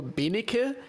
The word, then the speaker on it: Benecke: In German, you just pronounce it like it's written there, so Benecke, like with the German accent, but Benecke is totally fine, and I got used to it.